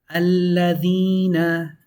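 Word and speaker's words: الَّذِينَ: So my advice to really make it sound nice, hold on to the L as long as you're holding on to the E. So it can sound uniform. Alladhina.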